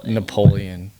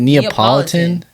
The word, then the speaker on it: Neapolitan: Napoleon. Neapolitan. It's Napoleon, brother. Look how that's spelled. Is that Napoleon? That's N A Napoleon, bro. It's Napoleon, bro. Neapol Is it Neapolitan?